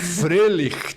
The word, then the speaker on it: Froehlich: É assim que se pronuncia? Deus, maravilhoso! Frelich.